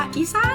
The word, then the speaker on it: อีสาน: ชื่อ ว่า อีสาน อีสาน ที่ ต้อง ออก เสียง ว่า อีสาน อีสาน รั้ว เขา ชื่อ อีสาน ส หัว ข้อ สระ อา นอ หนู ไม่ ไม่ ตรี นะ คะ อีสาน นะ คะ ก็